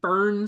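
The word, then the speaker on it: Foehn: Uh, so it's a real thing called the fern sickness, which is spelled f o e h, the fern fern sickness or the fern wind, which causes the fern sickness.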